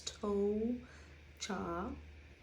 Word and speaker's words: tuo cha: sheet notes and um the oh u sounds like whoa but you take out the w so it's toe cha um the shoe uh